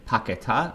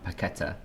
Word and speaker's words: Paquetá: I was going to say, is it, I've heard two different pronunciations. Is it Paquetá or Paqueta? Because I hear every commentator says something different. I think it's Paquetá. Paquetá? Okay. Yeah, at least that's how I've heard Brazilians call it.